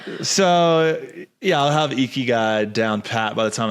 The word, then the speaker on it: Ikigai: You have to really find a niche, that Japanese idea of ichigami, or I'm mispronouncing Ikigai. It for sure. Ikigai, thank you.